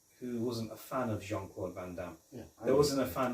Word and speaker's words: Jean-Claude Van Damme: by Jean-Claude Van Damme I think the way you say his name you have to say it pronounce it properly Jean-Claude Van Damme yes John John Claude